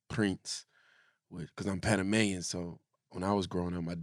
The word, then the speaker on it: Prins: I mean it's funny because some people say Prinze and some people say prints because I'm Panamanian so when I was growing